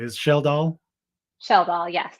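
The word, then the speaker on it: Schjeldahl: Sheldal, yes. It's Sheldal, just like okay. shell like a seashell and doll like a baby doll.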